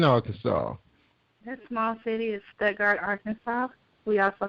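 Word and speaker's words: Stuttgart: show and correct me on the on the pronunciation of that that small city in Arkansas that small city is studard Arkansas we also call it Sugar Town sugar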